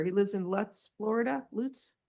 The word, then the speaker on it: Lutz: Lutz?